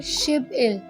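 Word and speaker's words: 십일: शिब इल. शिब इल.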